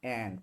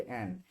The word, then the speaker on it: and: হ্যাঁ, coordinating conjunction কোনগুলা, এন্ড, প্রথমে হয়েছে এন্ড। এটা উচ্চারণ কিন্তু এন্ড না, এন।